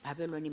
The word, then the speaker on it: 바벨: 여러분, 바벨론이라는 말을 구약성경의 기록된 히브리어로 뭐라고 발음을 하냐면 바벨이라고 발음합니다. 바벨.